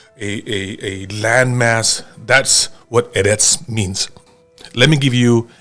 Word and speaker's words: eretz: The Hebrew word for earth is pronounced eretz.